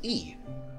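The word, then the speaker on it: い: It's the equivalent to the vowel I in English, but it's pronounced E. Not like the letter E, it's E. E. Anyway, it's a short vowel.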